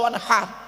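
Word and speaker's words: وَانْحَرْ: ইন্না আতাইনা কাল কাউসার ফাসাল্লি লিরাব্বিকা ওয়ানহার। ওয়ানহার, এই গলার ভেতর থেকে হেটা উচ্চারণ করবেন, ওয়ানহার।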